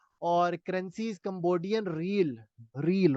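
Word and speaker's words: riel: रील, रियाल नहीं है, रील।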